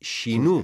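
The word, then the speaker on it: 四: Pero por outra banda, 4 tamén pode significar morrer, porque morrer en xaponés dice shinu, e shi tamén é outra forma de pronunciar 4.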